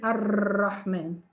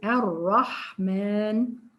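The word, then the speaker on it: الرحمن: We don't say ar-Rahman. How many ra? It's only one ra. We say ar-Rahman.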